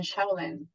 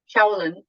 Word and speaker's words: Shaolin: And that, I remember when I was in Shaolin, and I might be pronouncing that wrong because I know some people pronounce it differently. So I don't want to butcher the name. Shaolin.